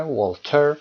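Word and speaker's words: Voltaire: ولتر در انگلیسی تلفظ میشه ولتر و میدونید که ولتر کی هست؟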